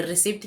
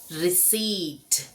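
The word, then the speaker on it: receipt: क्या हम इसे रिसीप्ट कहते हैं? हां, हम इसे रिसीप्ट कहते हैं। लेकिन यहां पर पी जो है वह साइनेंट है। तो सही उच्चारण है इसका रिसीट।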